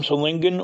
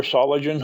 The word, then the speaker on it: Solingen: Both are from Solingen or Solingen, however you want to pronounce it, Germany.